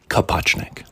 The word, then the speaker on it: Kapuchnik: So different people spell it differently, and I want you to just pronounce it phonetically like it looks on the page. But his true last name is Kapuchnik.